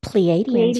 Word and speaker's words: Pleiadians: Pleiadians.